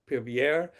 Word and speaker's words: Épervier: And it and the French got involved and they call it operation, I don't speak French but how would you pronounce it? Épervier began in 1986 and basically the French decided to, you know help the Libyans, help the Chadians out in this fight.